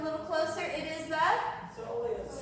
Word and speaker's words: soleus: Soleus. Soleus.